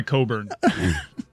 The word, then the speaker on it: Cockburn: I mean, Coffee Cockburn also sounds incredibly painful. That's the worst. He goes by Coburn. For obvious reasons. Well, then spell it Coburn. I mean, they spelled it Cockburn.